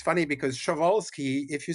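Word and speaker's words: Przewalski: They were the ancestors of the 3,000 animal that we call the sholskis horses. So I don't pronounce the P but I don't know which of us is actually right here.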